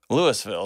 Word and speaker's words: Louisville: This guy was from Louisville. I am from Nashville. So ridiculous. Louisville is how it's spelled, but Louisville is how it's pronounced.